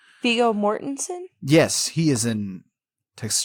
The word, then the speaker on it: Viggo Mortensen: Viggo Mortis. How do you say that motherfucker's name? Viggo Mortensen?